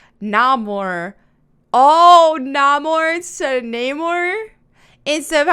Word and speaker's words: Namor: Studios executive Victoria Alonso provides new definition for Neymar's name in Black Panther wakanda forever okay black